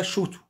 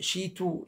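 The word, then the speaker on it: 手刀: بعد كده شوتو، سيف اليد، شوتو سيف اليد، شوتو. يعني انا عايزين ننطق الكلام بصوت عالي عشان ما يبقاش في اختلاف بعد كده، يعني ما يبقاش عندنا حد بينطقها شيتو شوتو، يبقى عندنا ايه؟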